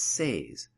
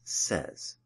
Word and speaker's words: says: mispronounced the word as says-- when the correct pronunciation is says note here that we are using the letter Z to represent the voiced S sound s is unvoiced and